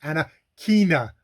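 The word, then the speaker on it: Anakana: somebody say her name it's like anna kina uh schofield which is funny because she's by now by now is her main character that has to have a little pronunciation thing so because bina is b-i-n-a and uh anakina is uh a-n-a-k-a-n-a which i would not have guessed of how to pronounce things so hey i'm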